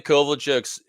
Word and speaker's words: Kovalchuk: Like Ilya Kovalchuk's agent once, I was talking to him and he called him Kovalchuk, and it was like, have I been saying it wrong for like a decade?